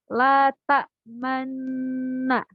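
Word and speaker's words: لا تأمنّا: La ta'manna, tapi karena ada ismam di sana, jadi dibacanya la ta'manna. Jadi pada kata man itu bibir dimoncongkan.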